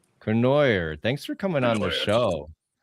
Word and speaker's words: Cournoyer: Cournoyer. Cournoyer.